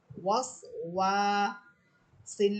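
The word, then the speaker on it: الوسواس: অতএব আপনার যদি সহি করে উচ্চারণ করতে হয় তাহলে অবশ্যই ঠোঁট গোল করতে হবে।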